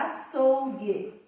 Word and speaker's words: açougue: eu digo a thorough então o u não é pronunciado na palavra açougue lembrando que nós estamos